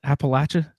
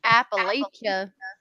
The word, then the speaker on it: Appalachia: Appalachia? I can never pronounce it right. Appalachia. The natives say Lacha.